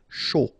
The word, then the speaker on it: chaud: Final D not pronounced, and then when you combine this C and H, you get the sh sound. A and U, O. Chaud.